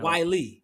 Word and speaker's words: Whyle: Whyle.